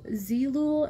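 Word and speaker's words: Zeelool: it's a peachy toned concealer uh jennifer it's zeelul and vugami so i'm gonna spell it out for you it's z-e-e-l-o-o-l um and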